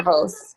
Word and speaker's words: Zervos: Zervos.